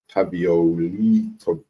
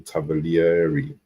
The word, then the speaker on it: Tavolieri: Reported yesterday by Sasha Tavioli, say his name, Tavolieri.